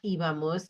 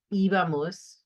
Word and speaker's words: íbamos: So iba, ibas, iba, ibamos, accent on the I, iban, right? So remember it's éramos with an accent, íbamos with an accent, and veíamos.